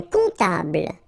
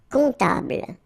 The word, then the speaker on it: comptable: Un comptable. So O-M, remember it goes like on, alright? And then, strangely, this P is not pronounced. Un comptable, alright?